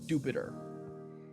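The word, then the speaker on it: Dewpider: It's pronounced the official pronunciation is Jupiter.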